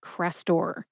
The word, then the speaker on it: Crestor: We've got crest, like the top of a wave, crest, and tor, like a torrential downpour of rain, tor. Put both syllables together and you get Crestor.